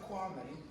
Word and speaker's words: Kwame: Yes, so, with regards to Kwame, there's been a blatant category. This is very professional. You interrupted. No, you can't pronounce his name. It's Kwame.